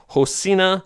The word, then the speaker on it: Rocinha: Yeah, because I mean, you look at it, it looks like Rocinha Favela, but I looked in the pronunciation in Portuguese, and it's Rocinha Favela.